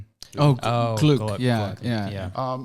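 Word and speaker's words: Glück: is a poet and essayist from 2020, Louis Glick. Gluck. Gluck, Yeah, Gluck. yeah. Yeah. I think her The name umlaut? is pronounced Glick. Oh, but it's okay. Yeah, okay. Yeah, it is spelled like Gluck, Gluck.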